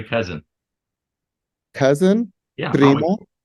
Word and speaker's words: primo: Primo? Primo okay.